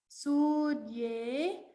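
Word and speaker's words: सूर्ये: Bhuvana Jnanam Surye Sanyamat. So remember to pronounce Surya long. Surye. So even the Ekara and the Ukara both are long here.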